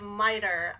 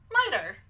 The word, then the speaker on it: miter: so the quick pronunciation of miter I think of it as rhyming with tighter lighter and brighter miter I've been experimenting with